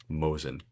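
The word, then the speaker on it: Mosin: Old rifle still a true weapon and pronounced more like Mosen.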